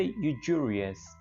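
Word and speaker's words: usurious: सूदखोर के लिए जो वर्ड है ये प्रोनाउंस करने में थोड़ा डिफरेंट है, जब इसके हम स्पेलिंग देखते हैं तो ये थोड़ा अलग लगता है, लेकिन इसको बोले थे यूजूरियस, यूजूरियस। तो बेसिकली ये एस यू जो है ये ज का साउंड दे रहा है, यूजूरियस, यूजूरियस, सूदखोर।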